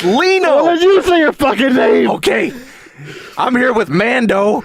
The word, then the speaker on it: Lino: you know do it go with mondo and leno you've been listening to you say my name right it's that little it's lino okay I'm here with mando and Leena how